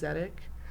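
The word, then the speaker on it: Tsdeq: And I remember the day he texted me because his name is Zedic, but it's spelled T S D E Q.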